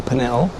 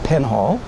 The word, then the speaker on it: Penhall: Well, it's a very recently written English play by a, for most people, new name, Joe Pennell, often mispronounced Penhall.